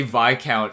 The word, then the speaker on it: Viscount: I'm not gonna just say Viscount and just expect like, yeah, you should know that the S is silent.